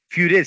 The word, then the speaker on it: Furet: Furet sería, pero se dice Furet, se escribe Furet.